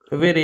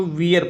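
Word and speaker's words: Vere: असल में Edward D वेरे या अर्ल ऑफ ऑक्सफोर्ड का काम है। ठीक। एडवर्ड डी वे, इसको वियर पढ़ेंगे।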